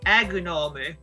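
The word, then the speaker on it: アグノム: As for Mesprit, it's Emorito, and as for Azelf, it's Agunome.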